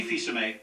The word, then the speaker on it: Fils-Aimé: I'm Reggie Fils-Aimé, president of Nintendo.